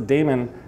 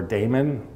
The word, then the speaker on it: daemon: by something that starts a demon or daemon again pronunciation then it's going to